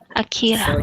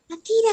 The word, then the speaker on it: Akira: name it's correct one Akira yeah no you have to pronounce it this way Akira akir akir something like